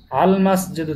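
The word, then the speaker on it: الْمَسْجِدُ: আল মসজিদু জামিলুন, মসজিদটি সুন্দর। আল মসজিদু জামিলুন, মসজিদটি সুন্দর। এখানে আল মসজিদু মিম, এটাও হরফে কমারিয়ার মধ্যে পড়ে, আল এই জন্য লামের উচ্চারণটা স্পষ্ট হয়েছে, আল মসজিদু জামিলুন।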